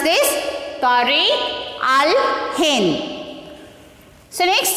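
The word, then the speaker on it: Tarikh al-Hind: How to pronounce this? Tariq al-Hind.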